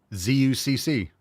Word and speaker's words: Zucc: Z-U-C-C. Pronounced Zucc. Like the phonetic. We have the phonetic, like, writing of it. Yeah. Pronounced Zucc.